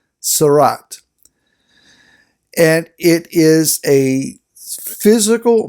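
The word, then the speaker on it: tzara'at: and you want to translate that you can spell it t z apostrophe a r apostrophe a t sarat and it is a physical malady who has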